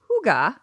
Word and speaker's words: Hygge: Yeah, it looks like Hygge, but yeah, I think it's pronounced Hygge.